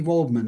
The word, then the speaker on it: Waldman: Wendy Waldman. Wendy Waldman.